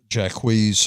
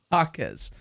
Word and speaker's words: Jaquez: Jacquees had 16 points. Jaquez. Jaime Jaquez. Jaquez? Yeah, Jaquez.